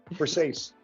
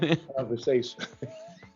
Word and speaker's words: Versace: How do you pronounce it, man? Versace. Called Versace. Because there's an S in it.